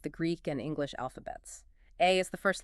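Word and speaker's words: 愛: The kanji character for love is pronounced AI, and that specific character is drawn with exactly 13 brushstrokes.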